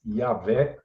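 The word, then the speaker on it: Yahweh: vocês já ouviram mas yavé né do jeito que deve ser pronunciado é é puxando V sim isso esse som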